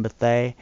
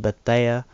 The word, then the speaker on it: Bethea: And that's Antoine Bethea instead of Bethea.